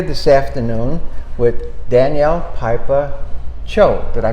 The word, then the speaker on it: Chio: And we're here this afternoon with Danielle, Pieper, Chio. Did I pronounce that right? Chio. Oh, Chio.